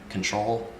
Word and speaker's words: CNTRL: we got Toronto submission control is how you say it but it's spelled cntrl like the button on your keyboard or whichever but yeah